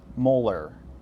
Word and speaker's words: molar: The way that we would typically pronounce this, the capital M, is molar. So it's 0.214 molar sodium nitrate solution. So just drop the itty at the end.